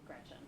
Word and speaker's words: Gretch: named after my grandma Gretchen who I adore. It's funny though because she always said, "Never let anyone shorten your name. Don't let people call you Gretch because it rhymes with wretch."